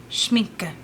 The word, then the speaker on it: Schminke: Schminke. Schminka. Schminke. Schminke. Schminka. Schminka. Schminke. Okay, I was saying it correctly.